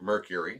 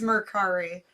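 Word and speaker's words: Mercari: our source of income i also sell on murkari i sell some things on there here and there and it or some people pronounce it mercury it's murkari um it's a selling app that you can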